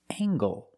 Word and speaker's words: angle: And this word angle. With angle, we pronounce the hard ggg sound. Angle. Angle. Use the long a.